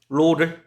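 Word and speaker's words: ρ: 균일한 밀도 로를 갖는다. 로라고 읽겠습니다. 로.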